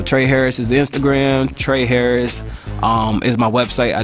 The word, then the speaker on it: Trehy Harris: okay yeah uh i'm on i'm on instagram trey harris is the name let me spell that for y'all cause i got a crazy